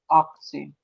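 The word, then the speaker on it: achtzehn: हो जाएगा 18, और इसको कैसे प्रोनाउंस करोगे आक्सेन, आक्सेन, आक्सेन।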